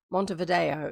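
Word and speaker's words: Montevideo: Monte Vido is sometimes how it's pronounced.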